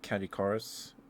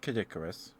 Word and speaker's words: Katikarus: as a cobalt named Katikarus. Kat, not Kadicurus. It's like it's spelled Caddy Cars and uh he was uh it's not the YouTube guy.